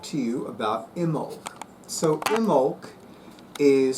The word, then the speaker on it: Imbolc: want to talk to you about imul so imul is spelled capital i m as in Mary B